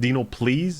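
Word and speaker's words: DNOPLS: way guys d-n-o-p-l-s do you know is it dino please is that is that what you're trying to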